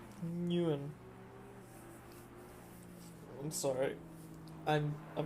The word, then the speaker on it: Nguyen: Trafilio and oh man, Enyon. I'm gonna say his name different every single time. It's not Inyan. It's Nguyen.